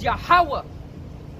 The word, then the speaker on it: Yahweh: And the pronunciation is Wa. So it's Yahweh.